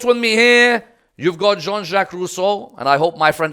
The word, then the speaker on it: Jean-Jacques Rousseau: I brought with me here, you've got Jean-Jacques Rousseau, and I hope my friend Aqil is proud of my pronunciation. Jean-Jacques Rousseau, what do we have?